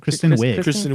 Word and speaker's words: Kristen Wiig: It was Kirsten, how do you pronounce it? Kristen Wiig.